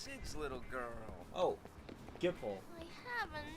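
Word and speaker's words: Gippal: I just need to talk to Gable. Gable, how do you say his name? Gable. Yibel. Gamble. The guy's name. Hey, it's Sid's little girl. Oh, Gipple.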